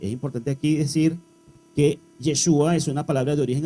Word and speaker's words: Yeshua: más antigua es ya Joshua mientras que la pronunciación aramea es yeshua o de origen arameo es importante aquí hago un nuevo paréntesis es importante aquí decir que yeshua es una palabra de origen arameo pero hoy